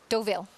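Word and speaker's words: Deauville: watch some races there how do you say the other one do V doville doville because correct all right I got the French in my mouth there we go uh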